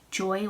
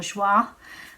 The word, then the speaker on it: Joie: car seat it was the joy or joie as it's technically joy in French but I don't know how they actually pronounce it as their brand name